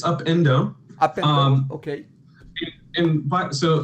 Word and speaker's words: Upendo: And did I pronounce it correctly? Up and Do? It's Upendo.